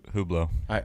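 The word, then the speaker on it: Hublot: I will say that who blow nice watches I like dressing up the Millat who blow yeah there's a silent letter in there to h ub l OT if you want to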